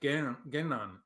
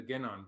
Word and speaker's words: Genan: And so I put just one N in the Genan, but it could be two N's in the middle of there, just to make it easier for English speakers to pronounce it. Right. And because that N is sounded.